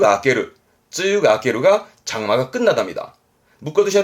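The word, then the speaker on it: 梅雨: 7월 정도에 내리는 비 그렇습니다 장마를 매우라고 써서 바이유 합니다 바이유 장마에 대한 바이브에 대한 언어 여러가지입니다만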